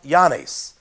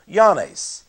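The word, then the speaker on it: Oannes: And here we have the Babylonian god Yanes. That is spelled O-A-N-N-E-S. Yanes.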